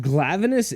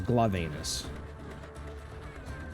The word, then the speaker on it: Glavenus: But Glavenus isn't that bad. Unless you pronounce it like I do, which is Glavenus. Because he's an anus and he's a glove. Or Glavenus. Yeah.